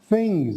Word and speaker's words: things: it yeah that's it things and then it's like think think you gotta put your tongue out between your lips and then start that sound in your throat very good okay uh